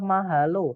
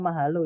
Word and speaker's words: mahalo: Ya, syllable atau suku kata itu adalah kalau misalnya mahalo itu ada 3 suku kata, yaitu ma, kemudian ha, kemudian lo.